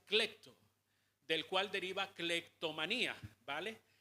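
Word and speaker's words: κλέπτω: utiliza una palabra que un término que se pronuncia clecto, del cual deriva clectomanía, ¿vale?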